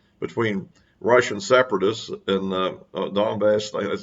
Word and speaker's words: Donbass: for 8 years, between Russian separatists in the Donbass, as it's pronounced, region over near the Russian border.